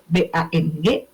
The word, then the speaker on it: bank: Yang satu BANG, yang satu BANK. Tapi cara bacanya gimana? Bang, sama gitu.